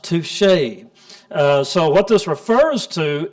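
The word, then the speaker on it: tusche: touche so this is actually how this is pronounced touche so what this refers to is a kind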